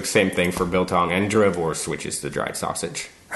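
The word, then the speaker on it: droëwors: So just like my name, the W is pronounced like a V because it's Afrikaans.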